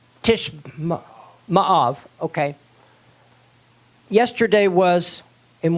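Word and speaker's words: Tisha B'Av: Tishbab? Tishma'av, okay.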